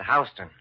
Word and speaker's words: Houston: Except here in New York, you pronounce it Hston.